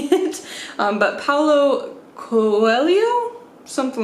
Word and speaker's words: Paulo Coelho: My husband has told me several times how to say it, but Paulo Coelho? Something like that. I know it's pronounced, like the H is pronounced different in Portuguese.